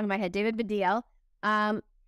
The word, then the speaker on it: Baddiel: um thank you for stop saying oh sorry for deal David's the DL sorry it's my American accent that's watching everything but yeah Davido okay I've been just saying it wrong in my head David